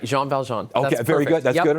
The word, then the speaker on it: Jean Valjean: You know, everyone has different pronunciations for. But that's right, Jean Valjean.